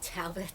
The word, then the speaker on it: Talbott: am here in beautiful Talbott. Talbott? Talbott. See, I've already It- messed up. No, you haven't because somebody pronounces it that way out there.